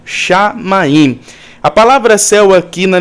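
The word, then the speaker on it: שָׁמַיִם: Perceba que a boca tem que fechar no final, shamaim.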